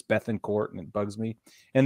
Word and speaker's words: Bethancourt: say that Christian bethancourt I always want to call him Bettencourt but it's Beth and court and it bugs me